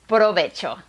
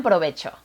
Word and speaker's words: provecho: The eighth Spanish word that doesn't exist in English is provecho.